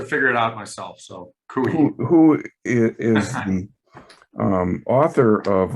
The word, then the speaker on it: Coie: and is at the law firm of Perkins Coie. Is that, I'm pronouncing that correctly? Close, yeah. Pardon? Cooey. Took me a while to figure it out myself. So Cooey.